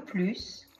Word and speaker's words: plus: Le plus grand, adjectif masculin singulier. La plus grande, adjectif féminin singulier. Les plus grandes, adjectif masculin ou féminin pluriel. Attention, on ne prononce pas le S de plus.